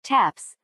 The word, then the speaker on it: TTAPS: activists listed their names to spell ttaps pronounced Taps the bugle call proclaiming lights out or the end of a military funeral until 1985 non-propagandizing scientists